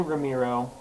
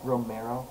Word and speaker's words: Romero: to mr george a ramiro and why don't you say his name right ever romero thank you romero sir so there's